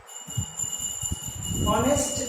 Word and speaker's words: honest: ऑनेस्ट, HONEST, H को हटा दें, ऑनेस्ट, प्रोनाउंसिएशन ह नहीं हो रहा है, ऑनेस्ट।